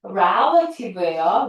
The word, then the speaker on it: relative: to 뭐뭐의 기계 해서 자 발음이 relative예요. rel레티브라고 잘 안 해요.